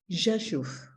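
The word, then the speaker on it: Rzeszów: z o with an accent w and it's pronounced Jesus okay so I'm the map of the former Galicia is behind me Joshua is in Southeastern Poland uh near the beginning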